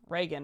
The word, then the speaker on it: Regan: um but you know I just see Reagan and assume that's how you say it yes thank you I type